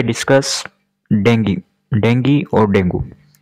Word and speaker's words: dengue: बात कर रहे हैं डेंगू जिसे हिंदी में डेंगू बोलते हैं और इंग्लिश में इसका जो उच्चारण होता है वो होता है डेंगी कम्युनिकेबल डिसऑर्डर है मैनेजमेंट